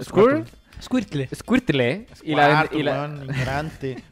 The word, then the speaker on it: Squirtle: Y embotellarían el agua de los ¿cómo se pronuncia? Squirtle. ¿Squirtle?